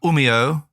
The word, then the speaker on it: Umeå: You did well with the pronunciation. It was pretty good. It's Oulu. Oulu. And Umeå.